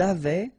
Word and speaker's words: avaient: Ils avaient, so look here, E, N, T, you write them, you don't pronounce them.